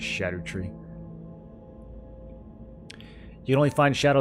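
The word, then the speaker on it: Scadutree: I think you're supposed to pronounce it shadow tree.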